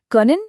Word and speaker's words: kann: वो कहते हैं इश कान पत्सियंटन गुड behandle।